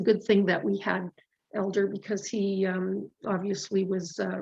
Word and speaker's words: Helder: And his name is spelt with an H, but you pronounce it Elder. And we were calling him Helder for quite a while before we finally figured it out.